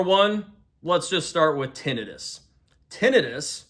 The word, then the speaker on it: tinnitus: So number one, let's just start with tinidis. Tinidis. And it's not tonitis, by the way. T I Ni Tus.